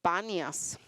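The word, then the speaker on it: Banias: de filipo sino que ahora se llama panas que es la pronunciación árabe de la palabra panas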